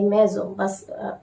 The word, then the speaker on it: maisons: You have to put an s, maison, tes maisons, but s will not be to be pronounced.